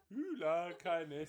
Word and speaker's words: Hola Kindness: Otherwise it pronounced Ula Kindness. It's at Ula Kindness. Ula Kindness. So it's spelled at HOLA kindness, and actually that holla kindness you can use for everything.